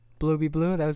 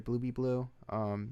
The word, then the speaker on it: Bluebebleu: So it's spelled blue, like the color blue, and then B, like not like the bee that flies, but like be as in become something, or you are something, and then blue is